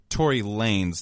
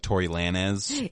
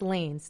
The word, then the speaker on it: Tory Lanez: first ask so it's Tory Lanez not like Tory Lana's I thought it was Lana's I feel like that's how you pronounce it in Spanish like Lana's but it's lanes Tory Lanez I believe